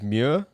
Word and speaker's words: muir: so the marrow comes from the irish words muir m-u-i-r meaning c and oy meaning made that's spelled o-i-g-h or where mero row i'm still